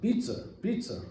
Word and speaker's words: pizza: So normally today when we think about the pizza, in Boston they pronounce it pizza, as if there is an R in the end.